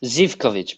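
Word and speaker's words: Živković: Zivkovic, bro.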